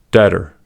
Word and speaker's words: debtor: Second, B is usually not pronounced before T. These are examples: debt, doubt, debtor, doubtful, subtle.